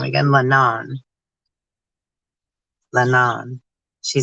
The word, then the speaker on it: Leanan: Lanawn, she said.